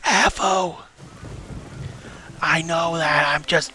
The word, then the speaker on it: Avo: It's pronounced Avo.